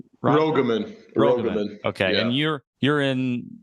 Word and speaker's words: Rogaman: Royman? Rogaman.